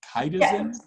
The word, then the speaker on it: chitosan: And did I pronounce that properly? Is it chitosan?